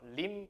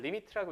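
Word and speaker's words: lim: li이 뭐 자기 마음대로 또 막 림 이렇게 읽으시면 안 돼. 뭐 그런 거 없고 그냥 리미트라고 읽어 주시면 되고 그다음에 맨 첫 줄에 a가 아니면서 a에 가까워지는 상태를 이렇게 쓸 거예요.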